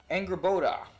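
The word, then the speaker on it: Angrboda: a future wife or Loki's uh let me pronounce it right angry Boda and in Norse mythology yes he he she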